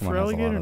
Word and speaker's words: Feraligatr: Could Feraligatr not fit everything? Feraligatr cannot fit. That's why Gator in his name is spelled G-A-T-R.